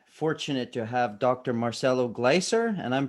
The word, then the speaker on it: Gleiser: and i'm very fortunate to have dr marcelo glicer and i'm pronouncing your name correctly sir right yes okay